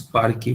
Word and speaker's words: Parquet: Carlton generally pronounces Parquet, which is correct. I call it Parquet, which is wrong.